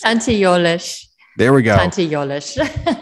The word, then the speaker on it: Tante Jolesch: Tante Jolesch, but that's totally, how is that pronounced? Tante Jolesch.